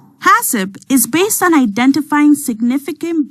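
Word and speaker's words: HACCP: is one such system it's pronounced hasip by the way hasip is based on identifying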